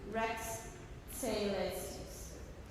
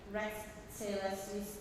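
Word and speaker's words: Rex Caelestis: In measure 30, Rex Celestis. Another TS. Rex Celestis. Otherwise, that was much better in the second read through. Agimus is in measure 24, Magna is measure 26, and then Rex Celestis in measure 30.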